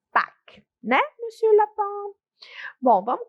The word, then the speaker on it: Pâques: Então, a pronúncia, vocês podem repetir aí na casa de vocês, é simples, ó, não pronuncio o S que tá aí, eu digo Pâques, né, Monsieur Lapin?